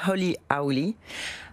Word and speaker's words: Holy Owly: Rien que le nom, c'est un petit clin d'œil à la prononciation. C'est ça. Donc on dit Holy Holy.